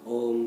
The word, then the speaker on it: ओम: और फिर ओम का तीनों शब्दों का स्पष्ट उच्चारण, अ, ओ और म।